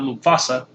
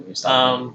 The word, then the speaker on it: Mustafa: Championship between Cedric Alexander and Mustafa, I believe is how you pronounce it, not Mufasa. No, Mustafa. Mustafa Ali.